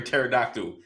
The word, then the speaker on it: pterodactyl: can't you hear a pterodactyl going to the bathroom because the p is silent ten P Stars yeah